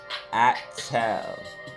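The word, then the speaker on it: Attal: Did I say his name right? Attel. Attel. Yeah, that's right.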